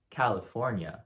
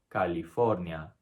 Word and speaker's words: California: An American would say California, but a Spaniard would say California. California. Notice how the first A and the last A are pronounced exactly the same.